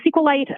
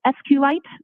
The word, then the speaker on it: SQLite: It is capital SQL, lowercase ITE, and SQLite is also commonly pronounced as SQLite, so both pronunciations are acceptable.